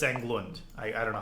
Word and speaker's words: Englund: yeah fritz england um it's not like england it's fritz englund i i don't know